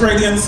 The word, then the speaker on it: Raydeeance: My name is Radiance, as been said, it's spelled R-A-Y-D-E-E-A-N-C-E.